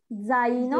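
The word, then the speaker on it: zaino: জি আচ্ছা আপু, এখানে জে না, এটা হলো গিয়ে জেতা, এটার উচ্চারণটা হবে জ এ বাংলা, মেবি হবে উচ্চারণটা মেবি বর্গীয় জ বর্গীয় জ মতো, হ্যাঁ হবে অনেকটা, এখানে হবে জ জা জাইনো, মানে আপনি প্রথম অক্ষরটা নিয়ে লাস্টের ওখানে ফিলিং দা গ্যাপে ওখানে বসাবেন, বসে পুরাটা একসাথে উচ্চারণ করবেন, জাইনো জেব্রা জিপ জকলে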